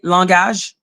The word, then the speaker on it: langage: Do you know that in French, we say langage?